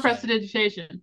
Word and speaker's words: prestidigitation: Prestidigitation, which is how you properly pronounce that word.